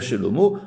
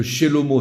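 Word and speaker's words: שלמה: Donc vous avez compris comment on fait le jeu de mots, parce que Shelomo, ça s'écrit avec un He à la fin, mais on prononce O.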